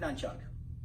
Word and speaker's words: nunchuck: ooh please be advised there's no Ken in the word nunchuck my first thing I tell my students if you want to learn the nunchucks you gotta be able to pronounce it right so a nunchuck again